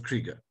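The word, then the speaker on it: Krygier: but I'm going to spell it for you it's spelled k r y g i e r but he calls himself Krieger um and you will see why I need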